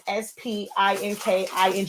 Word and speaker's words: Spinking: So it's spelled like not the regular word speaking. It's like ink. It's a play on words. So it's SPINKING because you found me on Silaholics Anonymous.